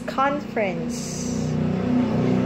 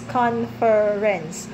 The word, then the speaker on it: conference: way it's conference conference so you just make it fast all right but sounds like you omit the E right the second or